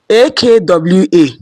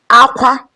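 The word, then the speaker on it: ákwá: The first one is Akwa, Akwa. Akwa. Cry. Akwa cry, high high.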